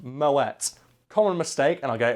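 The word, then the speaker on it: Moët: Now, although it is made in a Champagne region of France, it was started by a Dutch guy, which is why it has the little umlaut over it, and it's actually pronounced Moet.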